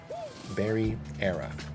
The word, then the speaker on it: Barriera: Barriera.